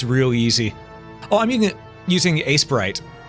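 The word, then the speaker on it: Aseprite: easy oh I'm using Ace Sprite at least I think that's how it's pronounced a e p r i t e ice Ace Sprite or Ace prite I'm going to call it Ace Sprite classic slime ooh I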